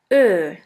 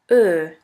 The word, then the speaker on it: Ö: The second umlaut is Ö, Ö, or O umlaut. Ö is pronounced like the word flirt or the word girl.